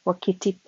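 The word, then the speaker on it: Wakatipu: We left Invercargill by the 6:45 train in the morning to make an expedition to Lake Wakitip, pronounced Wakitip.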